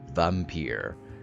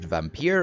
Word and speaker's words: Vampyr: and welcome back to vampire and i'm going to pronounce it vampire and no one can can convince me otherwise because that's how they